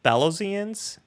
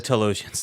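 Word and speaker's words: Talosians: actors of the uh how do you say the bellowsians the telosians the telosians thank you um phoenix uh sila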